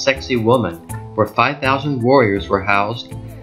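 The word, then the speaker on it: Sacsayhuamán: above the city is the Incan Fortress pronounced sexy woman where 5,000 warriors were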